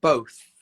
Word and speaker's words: both: How do you say both? Both. So bow, get that O sound, bow, both. And then you bring that tongue between the teeth to make the sound, both.